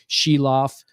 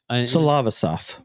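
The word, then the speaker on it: Silovs: but their other goalie shiloff uh who she sheilo I I'm saying it wrong but it's it's like that cof it's s i l o v oos salava yeah thank you Mark perfect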